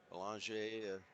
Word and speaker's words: Belanger: Belanger, French pronunciation. It looks like Belanger.